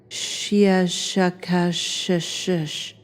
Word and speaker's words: Shia Shaka Shish: Something like Shia Shaka Shish, with a very, very strong pronunciation of the sh and k sounds.